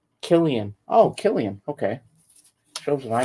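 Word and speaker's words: Cillian: to be fun uh Seline is an old Irish name pronounced Killian oh Killian okay shows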